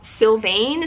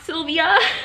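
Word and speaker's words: Sylvain: okay also I think I pronounced the author's name wrong it's still Sylvane Sylvane not Sylvia yes I finished it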